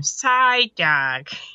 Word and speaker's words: Psyduck: of the more oh Psyduck actually side Psyduck because that's how you say his name Psyduck yeah yeah and he